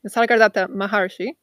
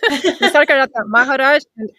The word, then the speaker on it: Nisargadatta Maharaj: Sorry, Nisargadatta Maharshi. No, I'm saying it wrong. Nisargadatta Maharaj and Ramana Maharshi.